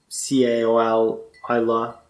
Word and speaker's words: Caol Ila: It's written Caol Ila, Ila, but it's pronounced Caol Ila.